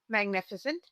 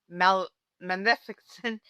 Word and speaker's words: Maleficent: We have the iconic, the legendary Magnificent, as I call her. I know it's Maleficent. Oh, I can't even say the name. I've been saying her name wrong for so many years.